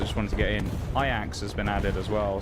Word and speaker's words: Ajax: Now, I will say actually admittedly on paper, I had a look at the Ajax really quickly or the Ajax. That's Ajax. Ajax, that's how people are pronouncing it, whichever way.